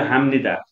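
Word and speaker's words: 합니다: अनि यो हामनिदा ब यदि फाचिमा छ र लगत्तै न आउँछ भने त्यसको उच्चारण हामीले म गर्नुपर्छ, त्यस्तै हामनिदा भनेको गर्छु।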